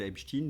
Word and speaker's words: Epstein: Aux États-Unis, on l'appelle Epstein, donc je vois pas pourquoi je le prononcerai autrement.